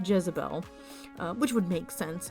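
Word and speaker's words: Dyesebel: this character named jezebel it's spelled d-y-e-s-e-b-e-l but from watching clips of the television series that became very popular that are based on this character i think they pronounce it jezebel uh which would make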